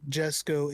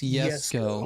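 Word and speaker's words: Jesko: It's not Jesco, it's Yesco.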